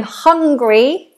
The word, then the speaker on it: hungry: If you're saying I'm hungry, then we don't do three syllables, it's two.